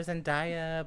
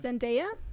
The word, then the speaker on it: Zendaya: say her name now I used to call her Sundaya but it's India zendaya mm-hmm her last name